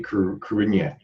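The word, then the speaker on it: Cruithne: There, by the way, was the correct pronunciation of the word that looks like Kruithni. Yeah. It's actually Kruinya.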